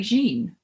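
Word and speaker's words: Jeanne: hat shop essentially and do you mean gene like jean no it's spelled g-e-a-n-n-e i think it's just yeah oh like okay okay like jean-claude but like yeah yeah yeah like the feminine version okay i'm sorry you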